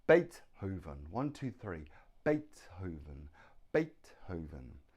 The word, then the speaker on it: Beethoven: look at his name Beethoven one two three Beethoven Beethoven now the stress is on the first syllable Beethoven has Beethoven three